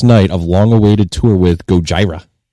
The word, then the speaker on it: Gojira: Deftones debut new lineup on first night of long-awaited tour with Gojira. Gojira, is that how you say it?